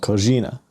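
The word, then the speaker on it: coxinha: and it's served with something called Kina it's like c iix h n a right like Brazilian pronunciation um Portuguese pronunciation it's like stuffed fried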